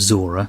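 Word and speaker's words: Zhora: Blade Runner correct I wasn't sure about the pronunciation of Zora I don't is that right am I saying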